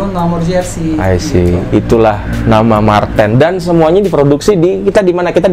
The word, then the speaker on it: Mar10: juga support Indonesia tuh kenapa Mark 10 bacanya Marten kan itu Marten mantan itu apaan apah